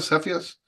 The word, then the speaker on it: Cepheus: Cepheus, Cepheus, is that how you pronounce it? Cepheus? Cepheus, yeah.